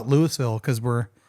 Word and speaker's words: Louisville: And well, we call it Louisville because we're not from Indiana.